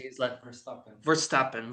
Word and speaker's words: Verstappen: How do I pronounce this? Tappen, How do I say his last Verstappen? Verstappen. Verstappen.